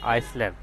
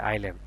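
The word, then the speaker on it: island: এটা উচ্চারণ করে কি আইসল্যান্ড। তো এখানে দেখেন এস এর উচ্চারণটা এখানে সাইলেন্ট থাকলো, এখানে এস এর উচ্চারণটা না হয়ে আই এল এ এন ডি, আইল্যান্ড।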